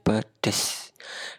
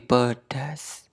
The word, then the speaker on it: pedas: nenek sangat nikmat dan pedes kata baku dari kata yang digarisbawahi adalah nah Pedes pedes memang sering diucapkan oleh orang-orang Tapi itu tidak baku yang baku adalah pedas pakai a bukan pedes tapi pedas 9 kata tanya untuk